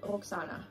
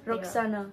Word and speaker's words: Roxana: Pronounce it in your language because I bet it's the same as mine. Roxana. Yeah, Roxana. Yeah. You roll your R's.